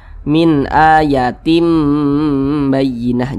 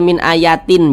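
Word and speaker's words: مِنْ آيَةٍ بَيِّنَةٍ: Nah, cara membacanya itu dengan merubah menjadi huruf mim. Nah, makanya di sini ditulis nih mim kecil nih. Nah, jadi dibaca min ayatim bayyinah. Jangan dibaca min ayatin, jangan tin tapi tim.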